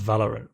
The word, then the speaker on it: Valorant: That's pronounced Valorant, but yeah.